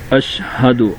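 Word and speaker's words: أشهد: شہادت معنی گواہی دینا۔ اشہد اللہ الہ، اب یہاں سب سے پہلے ہم ہجے کر لیتے ہیں۔ حمزہ شین زبر اش، ہا زبر ہا، اش ہا، دال پیش دو، اشہد۔ حمزہ نون لام زبر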